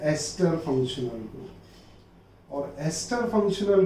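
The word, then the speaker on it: ester: Don't call it एज ईस्टर, इट इज टू be pronounced as एस्टर, है ना।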